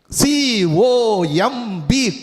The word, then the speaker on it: comb: Ba is silent, right? C-O-M-B, comb.